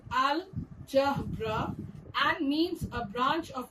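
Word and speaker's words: الجبر: Example, algebra, which is pronounced as al-jabra and means a branch of mathematics dealing with symbols and equations.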